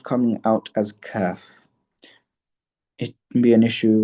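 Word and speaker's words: ك: letter qaf is not kaf. Okay? Kaf is like cake. Okay? Cake. The C which we pronounce in cake. Okay? That is where the letter kaf comes from. Cake. Kaf, cake. Okay?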